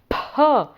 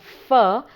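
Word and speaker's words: फ: Now ‘pha’ is a letter that there is a tendency to pronounce it as a fa but in sanskrit it would be wrong to pronounce it as a ‘fa’ that's more what the other languages like Hindi etc.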